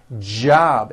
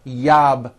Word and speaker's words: job: j judge like that for you spanish speakers whenever you see the letter j in english it always makes this j sound it's never a y sound never so for example the word job has a j at the beginning job it's never yab it's always my job with a strong j sound job my job like